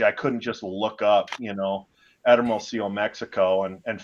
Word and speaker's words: Hermosillo: I couldn't even pronounce the name. It's Hermosillo, Mexico, in Sonora, which is the northern desert of Mexico.